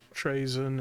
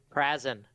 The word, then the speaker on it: Prazen: the room with Solus, Trazen, and Idea, who are gonna do a stakeout. I'd appreciate it if you'd pronounce my character's name right. Oh, okay. What is it? Prazen.